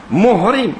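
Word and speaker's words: مُحْرِم: Mahram baca baris di atas. Mahram. Muhrim baca dammah.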